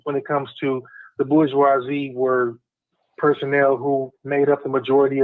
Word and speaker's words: bourgeois: i hate tranbuji because some goofy ass person who could not pronounce bourgeois or bourgeoisie called it boozy and everybody stuck with him pisses me off